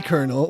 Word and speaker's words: colonel: How did he earn the title of the colonel when he wasn't even a colonel?